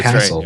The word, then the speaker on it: Cassell: you a message saying, "How do you pronounce Cassell?" Because I don't want to say That's castle.